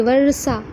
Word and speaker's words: वर्षा: वर्षा, वर्षा में क्या हो रहा है, वह पूरा है, र आधा है और मूर्धन सा पूरा। एक साथ एक बार उच्चारण करिए, वर्षा। देखिए, र का उच्चारण थोड़ा सा हो रहा है और सा का उच्चारण अ के साथ मूर्धन्य स का उच्चारण वर्षा।